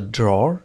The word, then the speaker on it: drawer: Are in the drawer في الدرج.